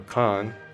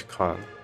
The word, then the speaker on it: Caen: Well, okay, so we get to go to Caen, or Khan. I'm sure it's Khan, the correct pronunciation, so yeah, there, take that.